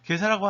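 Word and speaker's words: 袈裟: 본래 가사라고 하는 건 일본 발음은 게사인데, 게사라고 하는 건 스님들이 겉에 걸쳐 입는, 그러니까 승복이나 우리가 가사라고도 그러죠.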